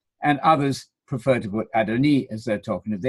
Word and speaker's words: Adoni: Simply tell your friends, as the International Standard Bible Encyclopedia says so clearly under the entry Lord, Adoni, as with the E sound at the end.